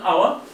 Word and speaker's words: hour: An hour. An hour. Hour تعني ساعة وقت 60 دقيقة. An hour. تبدأ بحرف الH ولكن الH لا تلفظ.